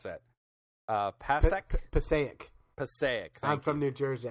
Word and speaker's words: Passaic: But the article, the big headline for the Huffington Post is 10-inch pacu, testicle-eating fish caught in how do you pronounce that? Passaic.